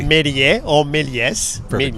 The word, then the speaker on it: Méliès: I'm not going to pronounce his last name correctly. Méliès or Méliès. Perfect. Méliès.